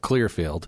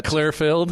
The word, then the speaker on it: Clearfield: in this city, of Clearfield. I think you pronounced that wrong. This is Utah. Clearfield? It's Clearfield. Clearfield? Utah's the only place on the planet where Filled is the same word as Field.